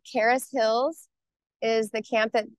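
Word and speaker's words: Charis: special needs children called Caris Hills is the camp that my family is uh running now and that's spelled c h a r i s Hills Caris Hills it means Grace in Greek and that offered me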